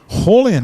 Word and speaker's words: Raulian: uh holly and paver horlion is that asl i don't know whenever brazilian has an r in their name everyone pronounce it with an h so it's really on